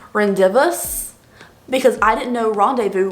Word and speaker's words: rendezvous: this is the rendezvous palette i've been saying rendezvous because i didn't know rendezvous was spelled like that like this is not how i